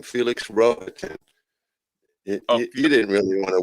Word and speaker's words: Rohatyn: I learned how to say his name, Felix Rohatyn.